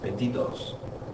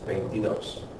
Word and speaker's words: veintidós: So we need an accent on that last vowel, veintidós. Otherwise, it'd be pronounced veintidos. But it's veintidós.